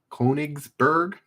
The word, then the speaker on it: Konigsberg: konas konich konysberg coneysberg how would you angle the silence koenigsberg that is the most anglicized way i can think of pronouncing it yes uh michelle gets